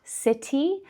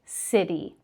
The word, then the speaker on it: city: And the final word we have here with a flap T is city. So not city, but city. Okay, so hopefully that rule is simple enough. Pronounce those T's in the middle of the words like a D, d, d.